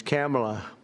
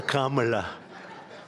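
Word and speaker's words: Kamla: It's Cam, right? Cam, as opposed to Com."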